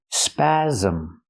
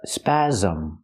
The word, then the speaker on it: spasm: Pronunciation, spasm. The S makes the Z sound like zebra with a voice. Z, spasm. It has two syllables. Not spasm, but spasm.